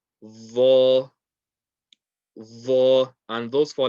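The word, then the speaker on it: ظ: And this one here is the tip of the tongue touching the tip of the top two teeth. Again, lots of pressure. Vo. Vo.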